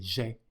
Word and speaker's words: j'aie: with the final he, but the pronunciation is the same as the indicative, so we say j'ai in both cases. Elle l'a fait sans que j'aie besoin de lui dire.